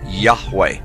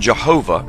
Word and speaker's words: Yahweh: most often rendered as Yahweh when written or spoken by Christians and others it is still never pronounced aloud by Orthodox Jews the pronunciation Jehovah is an older less accurate rendition of these letters it originated with the